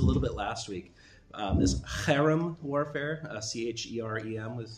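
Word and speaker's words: חרם: This cherem warfare, C-H-E-R-E-M is how you'd spell it in English.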